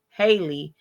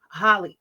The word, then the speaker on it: Halle: I was about to call her Haley. That's why. Holly. They got her up on such a pedestal No, that it's Haley. We it's tripping. It's Haley. It's Haley. Haley. I knew I was saying it wrong.